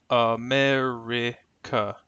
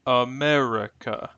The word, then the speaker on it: America: for the word America the word America can be pronounced two different ways America or America notice in the first